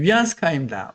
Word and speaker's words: 위안스카이: 근데 위안스카이입니다. 위안스카이는 언제 죽는가 하면은 1916년에 죽어요. 1916년에 죽으니까 1911년 이후에 죽었기 때문에 읽을 때 위안스카이라고 읽어야 돼요.